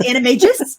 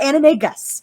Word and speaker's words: animagus: practicing to become an animagus they're explaining why he didn't look like the werewolf that's not how becoming an enemy just first of all it's animagus not anime gusts okay stop [ __